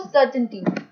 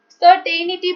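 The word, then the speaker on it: certainty: सी फॉर सर्टेनिटी। सर्टेनिटी बोलते हैं कुछ लोग, वो गलत है प्रोनाउंसिएशन, इसकी राइट प्रोनाउंसिएशन है सर्टेनिटी। सर्टेनिटी मतलब कि श्योर, जब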